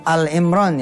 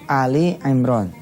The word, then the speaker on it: Ali Imron: saudara-saudara semua melihat 131 Bacanya jangan Al Imron ya tapi Ali Imron itu tulisannya itu Ali Imron Ali Imron ini keluarganya